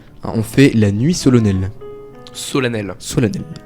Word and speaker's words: solennelle: on fait la nuit solennelle. Solennel. Solennelle. C'est parce que ça s'écrit avec un E que ça dit solennel.